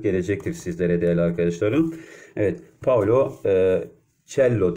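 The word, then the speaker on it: Paulo Coelho: sizlere Değerli arkadaşlarım Evet Paolo uccello diye telaffuz ederler genelde tel Arkadaşlar bu kıymetli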